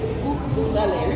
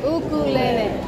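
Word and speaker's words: ʻukulele: We got a lot of vowels in our language, I know, but the way you pronounce it is like how you sound out the vowels. A, E, I, O.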